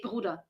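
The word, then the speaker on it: Bruder: he says BR and nobody speaking German pronounces the E which we just say bruda it's like an a yeah not e r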